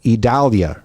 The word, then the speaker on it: Idalia: kind of like how we want to say it because you just take the V off of our our town and our inner areas but no that is not how it is phonetically put out for us yeah and that